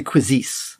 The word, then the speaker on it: Quizizz: do you pronounce q-u-i-z-i-z-z quizzes and i say quizzes like the french do okay and cause this